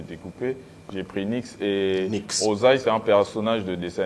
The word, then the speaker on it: Nix Ozay: Il s'appelle Nix Sozai. Voilà, avec nous. Bonne arrivée, mon cher ami. Ça va? Merci, merci. Ouais, ça va bien. Nix Sozai. J'ai bien prononcé? Nix Ozai.